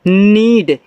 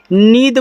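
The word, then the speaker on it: need: तो इसको पढ़ते हैं नीड। नीद मत पढ़ दीजिएगा। अगर नीड पढ़ दोगे तो हिंदी वाला प्रोनाउंसिएशन हो जाएगा। यहां इंग्लिश का कर रहे हो ये आपका नीड होगा। यहां डी से आपका ड बनता है। द नहीं बनता।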